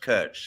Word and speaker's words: Krc: So if you're out there, Freddie, I still remember your name, partly because it was spelled, I think, KRC and pronounced Kirch.